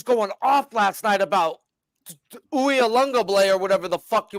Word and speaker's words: Uiagalelei: Ukulele. Okay. No, it's Uiagalelei.